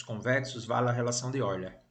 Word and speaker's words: Euler: Mas eu quero apenas comprovar que, por serem poliedros convexos, vale a relação de Euler. A gente lê Euler, né? Embora em português se escreve Euler.